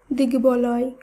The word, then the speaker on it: দিগ্বলয়: শব্দগুলিকে যখন আমরা শুদ্ধভাবে উচ্চারণ করব তখন বফলার উচ্চারণের কোনো পরিবর্তন হবে না। তাই দিগ্বিদিক, দিগ্বিজয়, দিগ্বলয়, ঋগ্বেদ এই প্রত্যেকটি শব্দের উচ্চারণ একই হবে।